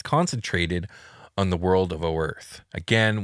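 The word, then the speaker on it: Oerth: on the world of O Earth again we know it's supposed to be pronounced Earth but we say the O so they know mhm um the princes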